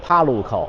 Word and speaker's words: Parco: The correct pronunciation is Parco. The "r" needs to be pronounced.